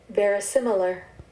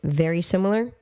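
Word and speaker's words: verisimilar: mic go for it ver similar ver similar very similar ver similar yeah see I was pronouncing it wrong in my head when I first looked at it I'm like saying very similar cuz that's how to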